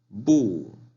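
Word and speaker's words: 不: La palabra no, bu. Bu. La B, pero se pronuncia como P.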